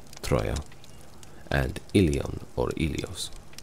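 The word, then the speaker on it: Ilios: troo and ilon or ilos metrical evidence from The Iliad and the Odyssey suggest that the latter was originally pronounced wheelio these names appear to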